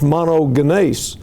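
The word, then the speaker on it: μονογενής: is I could put it up here is pronounced monogan and guess what the word means of a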